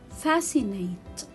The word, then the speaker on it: fascinate: discipline discipline so here i will not read letter c because it comes after letter s scissors scissors i will